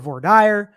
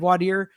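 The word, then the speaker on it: voir dire: he said we're Dyer there are actually some lawyers that call it vorder I call it vorder and wadir um so there are multiple ways to pronounce it I know people think I'm wrong about that but I think that if in law school and in courtrooms across the country it is pronounced both ways then both ways are acceptable that's where I sit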